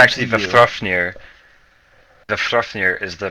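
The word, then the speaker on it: Vafþrúðnir: Vafthrofnir is the pronunciation, but it's just easier to say Big Daddy V.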